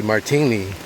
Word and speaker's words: Martigny: It's spelled with a G, Martini, in Switzerland.